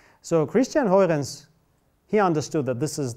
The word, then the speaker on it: Huygens: it's pronounced like that, it's Huygens. Huy, clear throat, and ends, Huygens.